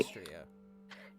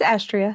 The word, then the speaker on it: Astria: Is it Astria or Okay. Austria? It's Astria.